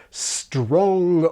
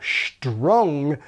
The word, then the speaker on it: strong: In other words, it seems that the most popular pronunciation among younger speakers is not strong or strong, but strong.